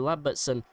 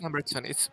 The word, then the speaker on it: Lambertson: So Lamberson even, I did get his name wrong last season, and It is Lambertson. It's misspelled in the server. It's Lambertson.